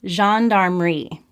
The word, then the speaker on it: gendarmerie: Belgian Air Force and the gendarmerie is how it's pronounced.